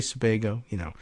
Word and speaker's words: Sebago: Several months earlier on the same campus, as fog enveloped Sebago Lake, do I have the pronunciation? Sebago. You say Sebago, and rain poured down in sheets, a larger